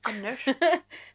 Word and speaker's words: Anders: Anders. They were stars. Robban och Anders. Oh. Yeah. That's the proper Scandinavian pronunciation.